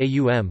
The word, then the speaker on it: Om: The Aitareya Brahmana of Rig Veda, in section 5.32, for example, suggests that the three phonetic components of Om, pronounced A-U-M, correspond to the three